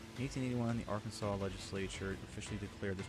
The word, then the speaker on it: Arkansas: It reflects the French pronunciation of the name derived from the Quawa tribe where the final S is silent. 1881, the Arkansas legislature officially declared this pronunciation to preserve its historical.